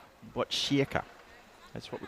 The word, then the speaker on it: Botkyrka: Make sure you get the pronunciation right. Need to get it right. It's Botkyrka. That's what we call it. Botkyrka.